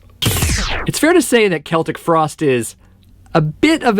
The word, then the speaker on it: Celtic: I was one of those people who used to pronounce this band's name "Sell-tic" Frost.